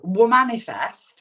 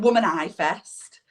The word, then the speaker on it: Womanifest: Is it Womany Fest? Is it Woman-I Fest? No, it's Womanifest. All right, so it's almost like a spin on manifesting, right?